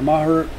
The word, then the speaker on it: Maher: it was, won, or Maher, I think it's pronounced Mayer, he won a big